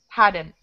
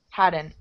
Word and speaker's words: hadn't: Hadn't. I'm not hadn't. Really pronouncing the T, right? Hadn't. It almost sounds like this. Hadn't. Very light T at the end.